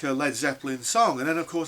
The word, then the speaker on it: Led Zeppelin: was saying, yeah, but well, what about like Led Zeppelin? And they said, well, I don't care about Zed Zeppelin, and he was deliberately saying it wrong.